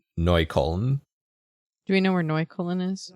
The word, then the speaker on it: Neukölln: Do we know where Neukölln is? It's a neighborhood in Berlin. Okay. Did I pronounce that right?